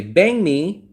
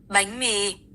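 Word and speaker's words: bánh mì: See, it sounds like a G. Watch. Listen. It sounds like bang bang. Bang me.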